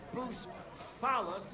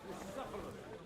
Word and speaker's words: Bucephalus: What kind of name is Bucephilus, anyway? It's pronounced Bucephalus.